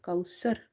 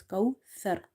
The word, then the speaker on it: كوثر: So avoid the seen pronunciation here. It's not kausar, it's kauthar, thar.